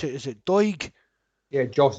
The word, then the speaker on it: Doig: How do you pronounce it? Is it Doig? Yeah, Josh Doig, yeah.